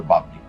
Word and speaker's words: বাবলি: বাবলি এখানে মধ্য ব এর সাথে অ এর উচ্চারণ হবে না তাই এর উচ্চারণ হবে বাবলি এবং ব এর সাথে